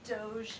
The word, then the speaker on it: DOGE: On DOGE and the fraud claims.